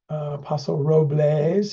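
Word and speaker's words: Paso Robles: that's what I remembered Apostle Roes is the way they pronounce it here's their team so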